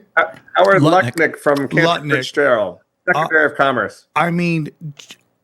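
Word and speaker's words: Lutnick: I mean, we have this Howard Lucket. Is that how you say his name? Howard Lucket. Howard Lucknik from Fitzgerald, Secretary of Commerce.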